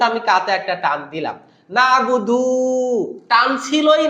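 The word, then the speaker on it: نَعْبُدُ: আছে না তাড়াতাড়ি বলতে হবে কারণ এটা হল নাবুদু মানে আমরা ইবাদত করি জমা মুতাকাল্লিম মানে মুতাকাল্লিম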